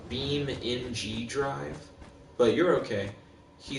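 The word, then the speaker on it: BeamNG.drive: keep rolling plain set basically is pronounced uh beam in g-drive but you're okay he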